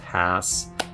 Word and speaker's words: Hass: it the haas avocado it's actually named after a guy named rudolph hass rhymes with something like a donkey whatever but that is